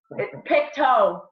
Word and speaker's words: Pictou: How did you say it? Pictou? Pictou. Big toe. Pronounces it like that. It's just funny.